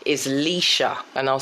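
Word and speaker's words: Lescha: so my real name or government name is lisa and i'll spell it l-e-s-c-h-a so that's l-e-s-c-h-a um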